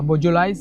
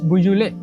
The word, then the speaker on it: Beaujolais: So you call it Beaujolais. It's quite hard to pronounce. It's a Beaujolais. No, it's Beaujolais.